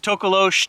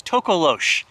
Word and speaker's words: Tokoloshe: It's Tokoloshe, Tokoloshe, Tokoloshe. It's pronounced many different ways. So I'm going to refer to this cryptid that I've never heard of as Tokoloshe.